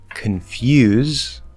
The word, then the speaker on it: confuse: So for example, you can say instead of confuse, drop the N, make the it's spelled with an O, but it's an make the partially nasal, and then just go straight into the F.